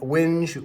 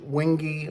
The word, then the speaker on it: wenge: Actually, I checked on the pronunciation of this, and wenge, wingy, or wenge are all correct. So it just kind of depends, I think, on where you're from.